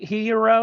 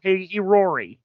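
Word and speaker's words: Hiyori: anyway she shows up she shows up outside hero or whatever her name is yeah well she show hiori hiori okay okay it's that's difficult to pronounce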